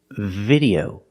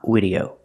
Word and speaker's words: video: this VV video again the word is video not video now being told that